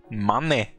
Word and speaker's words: Mané: Mané. Sag, ist das hier französisch ausgesprochen oder auf Deutsch?